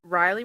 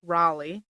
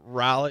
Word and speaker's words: Raleigh: So thanks to my buddy Chase, Riley Retro Gamers, or Raleigh, how they say it there in North Carolina. Raleigh.